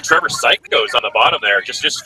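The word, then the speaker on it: Ciacosz: But as someone with Italian heritage, I read his name as Chichos. Chichos. It's spelled C-I-A-C-O-S-Z, and it's pronounced Psychos. That's a true story. It just gets me. It sounds like Psycho.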